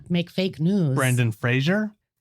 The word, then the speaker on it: Fraser: make fake news Brendan Fraser apparently it's I said his name wrong last time and it's Fraser oh sorry sorry Brendan I